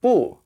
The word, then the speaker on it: 不: fourth tone so like boo but over here it's a rising tone it's the second tone so there's like a